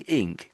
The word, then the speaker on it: ink: So when you're saying ink, can you feel your tongue being lifted at the back to get that sound? Because that's what it sounds like you're doing.